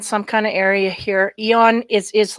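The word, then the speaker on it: Aeon: I thought Eon was spelt with E-O-N, not A-E.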